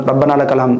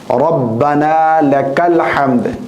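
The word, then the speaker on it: ربنا لك الحمد: इसी में रब रब्बनाम रब्बनाम रब्बना रब्बनाम ये गलत है रब्बना लकल हमद इस तरह कहें या फिर रब्बना वकल हम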